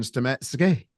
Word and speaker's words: Stametsky: We've got Ryan Stametsky. Did I pronounce that right, mate? Yeah, that's correct.